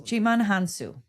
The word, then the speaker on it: Djimon Hounsou: Uh, Djimon Hounsou, I can't pronounce this. Djimon Hounsou.